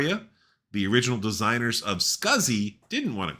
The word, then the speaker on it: SCSI: SCSI, and that's how we pronounce it, as in rhymes with fuzzy, is drive technology that's been around since the 70s.